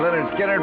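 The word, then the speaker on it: Lynyrd Skynyrd: with gary's thing james pronounced leonard skinner leonard skinner freebird well if you're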